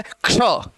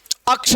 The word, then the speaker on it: क्ष: इसका उच्चारण क्या है? क्ष। अक्ष नहीं है, क्ष। क्ष, क आधा है और स है, क्ष।